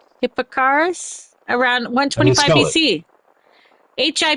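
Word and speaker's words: Hipparchus: Hippocarus around 125 BC. Hi P A R C H U S. Oh, Hipparus.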